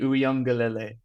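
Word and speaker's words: Uiagalelei: to send you a video on how to pronounce it it's DJ uele yeah class you're worth your win Goldman DJ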